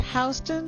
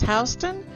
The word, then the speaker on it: Houston: Now it is pronounced Houston, so for anyone who comes from Texas, sorry. In New York it's Houston.